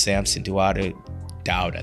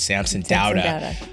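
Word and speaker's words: Samson Dauda: You know, I think we have 19, including the latest Samson Dowda, that's how you say it, Samson Dowda.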